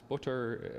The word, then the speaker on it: Butter: a scholar named Michael butter and if you're looking for one book just one book to read on the topic uh his last name is is butter and it's spelled like I'm pronouncing it uh the book is